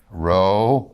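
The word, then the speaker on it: rho: Row. Row is actually an RH sound. You put an H, a hard P.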